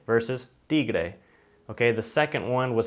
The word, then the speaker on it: tigre: the D sound, and it's a much softer pronunciation than the T sound in English.